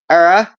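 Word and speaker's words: Éire: burden instead key points era is the correct spelling for Ireland with the father indicating a long e sound ER without the father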